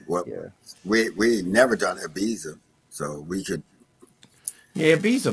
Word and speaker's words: Ibiza: say Ibiza, Okay, all right. Ibiza. Ibiza, with the it sounds like a th, I guess.